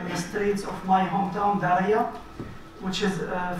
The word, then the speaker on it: Daraya: We went in the streets of my hometown, Daraya, which is 4 kilometers outside Damascus. Daraya, not Daraa. Daraya, just around Damascus.